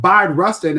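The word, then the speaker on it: Bayard: Yeah, most people say his name wrong, but the the the trick here is think B like bisexual, but B Rustin is is is god parents to Malcolm and Koretta's kids.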